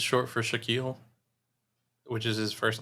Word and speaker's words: Shaquille: And his name is Shaquille O'Neal because Shaquille rhymes with O'Neal and it sounds cool.